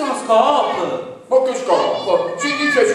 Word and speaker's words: scoop: Ma, Bimbi, questo è uno scoop. Ma che scoop? Si dice scoop? No, allora, in inglese sono ferratissimo. È scritto S-C-O-O-P, si legge scoop.